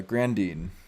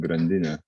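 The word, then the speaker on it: Grandine: clients and other fun things how about uh grand dean is that how you pronounce that hi so it's actually a lithium world warden which is pronounced grandina okay so so this is what i'm gonna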